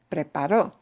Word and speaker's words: preparó: Because preparo means I'm doing it right now, but preparó, spelled the same way, but with a punch on a different syllable, is she did it.